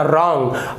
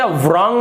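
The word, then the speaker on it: wrong: यानी कि उल्टा होगा रॉन्ग रॉन्ग का मतलब होता है गलत लेकिन आप देख रहे होंगे स्पेलिंग य डब्लू आर ओ एन जी रंग तो इसे रंग नहीं पढ़ेंगे मैंने इससे पहले एक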